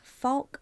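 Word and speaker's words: Fouke: of the Falk monster? I think it's it might be pronounced Fook monster.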